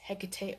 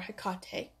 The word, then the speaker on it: Hecate: in front of us, which is Hecate or Hecate, however you want to pronounce that.